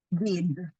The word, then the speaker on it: did: el pasado usamos solamente did Acuérdate que la d de did tiene que sonar bien fuerte did no did did